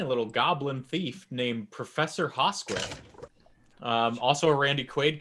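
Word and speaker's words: Hosquith: is a tiny little goblin thief named professor haskway um also a randy quaid character and uh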